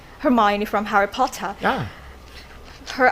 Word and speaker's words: Hermione: How could you study Harry Potter for your English pronunciation? That's really, really. I'm curious to know. Yeah, so I really like Hermione. Hermione from Harry Potter.